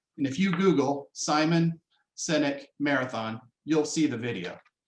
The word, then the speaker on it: Sinek: this one up uh his name is simon sinek his last name is spelled s-i-n-e-k and he tells a story about a marathon and if you google simon cynic marathon you'll see the video but it's it's